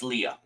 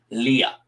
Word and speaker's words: Leia: And I did not have a Princess Leia. Yeah, that's right. I say it like Lando did. Leia, not Leia, Leia.